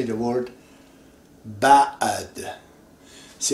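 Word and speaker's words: بعد: This is ba'ad. In English we say what? B-A and a space here, ba'ad. It's not really bad.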